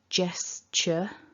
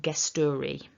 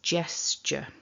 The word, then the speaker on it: gesture: that's the first thing it's not a gu it's a j and at the end